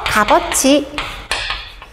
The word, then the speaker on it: 값어치: 하나가 뒤로 넘어가서 값어치 이렇게 된다.